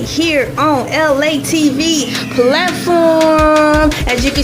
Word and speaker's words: ELAY: So my name is ELAY, pronounced like LA, like the city.